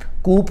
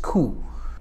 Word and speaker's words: coup: अब लिखने में COUP है, कूप बनता है गालिबन, but that is नॉट the correct pronunciation. The correct pronunciation of this word is खू।